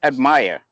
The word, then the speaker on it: Admire: name is I'm gonna have a hard time pronouncing your name oh it's just admire my is in English it's an English Lincoln